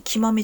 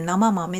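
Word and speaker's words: 生豆: 生の豆って書いて生豆じゃなくて生豆って読むんですけ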